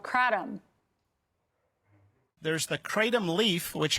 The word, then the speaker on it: kratom: Siegel, Kratom is how you pronounce it, Kratom.